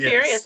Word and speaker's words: Tiberius: I'm going to try to pronounce it Tiberius. Tiberius. Yes. Tiberius, okay.